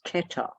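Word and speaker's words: Kether: seed and the essence of the seed is ketter k-e-t-h-e-r this little spotty bit in the middle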